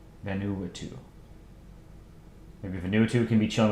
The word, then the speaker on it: Vanuatu: It's pronounced Vanuatu. Okay. Vanuatu. Vanuatu.